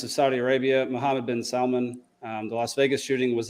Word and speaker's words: Salman: So anyways, Prince bin Talal and Mohammed bin Salman, which I also got to say, that's the only time it's okay to pronounce the L in Salman.